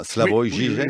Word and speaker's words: Slavoj Žižek: C'est comme ça qu'il faut dire, Slavoj Žižek, oui.